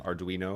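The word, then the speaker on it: Ardoino: Every should learn how to pronounce the name of your good friend there, man. Arduino.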